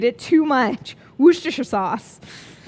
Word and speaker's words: Worcestershire: pronunciate it too much Worcestershire sauce I think the trick is you're supposed to say Wooster first and then Worcestershire I once worked for